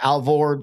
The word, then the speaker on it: Alvord: Yeah, Alvord.